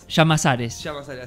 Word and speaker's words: Llamazares: ¿Cómo se pronuncia tu apellido? ¿Es Llamazares? Llamazares, sí.